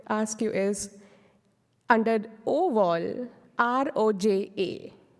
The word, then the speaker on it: Roja: name I would ask you is under oval r-o-j-a it's under the overall last second line of the slide sorry Roja yeah you're right Roja yeah and I can